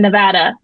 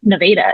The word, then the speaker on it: Nevada: I lived in Arkansas, but that's how they pronounce it, Nevada. It's not Nevada.